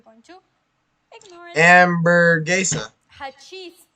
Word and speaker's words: hachís: But here I'm saying that Hachís. I'm pronouncing it as if in Spanish I would be using a J.